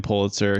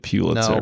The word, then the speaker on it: Pulitzer: pronounced his own name Pulitzer his wife told everybody this is how he pronounced his name even though his family pronounced it piter but the Pitzer priz